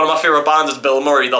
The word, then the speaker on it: Bilmuri: my favorite bands is Bill Murray, they're like, "What are you talking about?" And I'm like, "No, it's not the actor. I can promise you that. It's spelled this way. It's all one word.